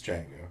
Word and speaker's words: Django: It's The D is silent. I know it's Django.